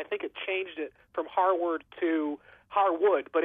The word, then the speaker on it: Harward: noticed in the article you want to say Harwood don't you but it's Harwood yeah and I noticed